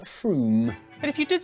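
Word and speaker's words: Frome: good it's a good opportunity slitheringly obvious is pronounced froome but if you did say from don't worry you're in good company froome is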